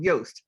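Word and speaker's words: Yoast: one I like is called yost spelled like toast except for the why.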